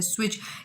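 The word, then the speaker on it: switch: इसमें W silent है, स्विच इसमें टी साइलेंट है।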